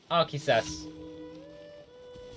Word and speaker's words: Arceus: Arceus.